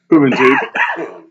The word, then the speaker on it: Juventud: I know that's not how you say it. Juventud.